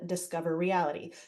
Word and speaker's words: DISCOVreality: that software is called discover reality so Andrew why you say you don't want to butcher it it's spelled a little weird it's Disco V rity so we just wanted